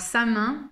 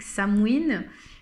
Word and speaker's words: Samhain: Alors Samin, ou plutôt prononcé à la manière celtique Samhain, c'est la fête en